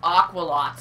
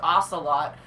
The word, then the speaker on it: ocelot: played PE Pocket Edition she calls ocelot aqual lot and I was telling her the correct pronunciation is ocelot there is no Q and a you but no no I